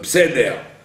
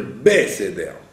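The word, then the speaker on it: בסדר: Ils ont tendance à dire Pseder, alors qu'il faudrait dire Beseder. D'accord? C'est pas P, Pseder. Les gens disent Pseder, parce qu'ils ne le prononcent pas bien. Ils devraient dire Beseder. Beseder. Parce qu'il y a un Sheva na.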